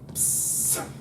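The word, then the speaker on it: ψ: What sound does he make? So the man is the stick in the centre, as you can see, like that, and the urinal is this bit around him. Psst.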